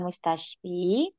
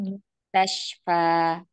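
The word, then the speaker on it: مستشفى: Ya, di sini bukan mustashfi, bukan kasroh, tapi Ya. dibacanya fathah karena isim maksur itu nanti apa namanya domahnya atau kasrohnya itu muqaddarah, tidak nampak ya. Nah, ilal mustashfa gitu ya, Umi.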